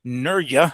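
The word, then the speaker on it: Nurja: um against Denise or Dennis Nura if I can pronounce it right. I was pronouncing the J but apparently it shouldn't be.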